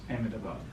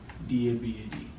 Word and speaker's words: Ahmedabad: How do you spell that? Gujarat, Yeah. and the city's name is Ahmedabad. It's Ahmedabad.